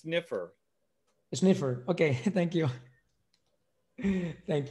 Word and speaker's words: sniffer: That's giving the configuration of the sniper timeout, the sniper start, and just give it that by default. Just copy that here. By the way, that's pronounced sniffer.